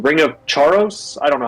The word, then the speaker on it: Charos: It's a quest reward in Runescape called the ring of Charos. I don't know how to pronounce it. I always pronounced Charos. C H A R O S. I charos.